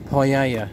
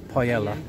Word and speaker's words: paella: Yeah, if you want to make your own paella, not paella. Two L's is a Y in Spain, okay?